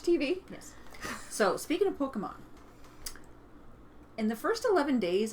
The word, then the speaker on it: Pokémon: speaking of pokey poke Pokemon I was saying it wrong yesterday I got corrected I was saying Pokemon and he's like no Pokemon Pokemon So speaking of what's